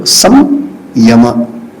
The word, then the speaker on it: Samyama: Why you call it Sanyama? What not Samyama or Sanyama? Sanskrit grammar is different. Ya comes after Sa, that's why this pronunciation. But if I have if we have to understand and break this word called Sanyama, it is called Samyama.